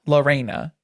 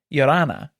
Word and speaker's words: Lorrana: It's not Lorrana. It's Lorrana is what she says.